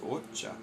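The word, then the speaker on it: お茶: It's actually pronounced ocha.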